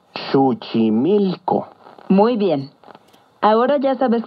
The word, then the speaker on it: Xochimilco: atención su símil que recuerda que en el náhuatl las palabras se acentúan en la penúltima sílaba succi mil o muy bien ahora ya